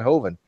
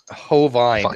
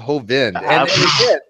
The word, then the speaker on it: Hovind: better English and Ronnie HOV Vine how do you get HOV Vine out of hovind again it's it's it's